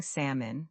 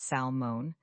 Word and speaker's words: salmon: It's just salmon. Imagine you're at a restaurant ordering dinner. You say, "I'll have the grilled salmon, please." You're saying salmon, not salmon.